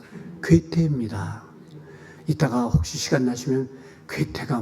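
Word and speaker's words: 괴테: 또 발음이 잘못돼서 동태는 아니고요. 괴태입니다.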